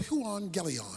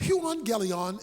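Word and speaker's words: εὐαγγέλιον: the greek word for gospel is the word juan galleon that's how it's pronounced huon galeon is simply translated good news so i got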